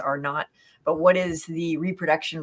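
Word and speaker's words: R0: So what is the, RO, I think it's pronounced R not, but what is the reproduction rate?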